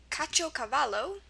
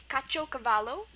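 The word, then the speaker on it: caciocavallo: Word number two today is kacho cavalo.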